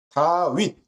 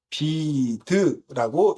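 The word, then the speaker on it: דוד: 그 다음에 바부라고 하는 음가, 비읍을, 어, 갖고 있다라고 말씀을 드리면서 어떤 히브리어 단어가 여기에 해당한다고 얘기했냐면 예, 다윗 또는 다비드라고 읽을 수 있다라고 말씀을 드렸습니다.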